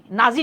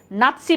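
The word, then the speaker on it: নাৎসি: না যেমন হিটলারের ছিল নাসি নাসি নাজি যেটাকে আমরা লিখছি না এটা হচ্ছে নাসি বলি আমরা উচ্চারণটা নাসি পার্টি ইতালির মুসলিম এই যে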